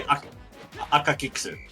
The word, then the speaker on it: Akakikusu: We'll You get could just say Akakiksu. Just think of like Hicks is the last part. Akakiksu. Yeah, no, you're right. Because, yeah, the U sound is a little... yeah, it's softer in Japanese. It's almost invisible, isn't it?